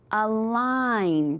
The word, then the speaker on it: align: GN also says So when we look at this word here, here's my little ghost. Even though he's there, we're not going to say his name. So align. Do you see it?